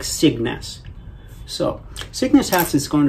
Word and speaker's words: Signes: But anyway, it's kind of like a hard G, sickness. But it's not sickness, it's more like Cygnus.